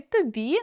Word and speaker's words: тобі: У першій пісні, яку виконувала Тіна Кароль, прозвучало: “Намалюю тобі зорі”. У слові “тобі” наголос падає на “і”, тому “о”, який стоїть у попередньому складі, буде наближатися до “у”: .